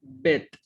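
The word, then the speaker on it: ב׳: Y luego está una tab al final que simplemente tiene el sonido t, entonces dice bet.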